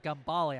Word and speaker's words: Gambale: And I forgot, it's not Gamble, it's uh Gambale. I think I've been saying it wrong the whole time.